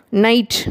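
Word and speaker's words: knight: நைட் உங்களுக்கே தெரியும், இரவு அப்படிங்கிற அர்த்தம். அந்த முன்னாடி கே அப்படிங்கிற ஒரு எழுத்தை சேர்த்துவோம், நைட். ஆனால் அந்த கேங்கிறத உச்சரிக்க மாட்டோம், சைலண்ட்டாக வரும்.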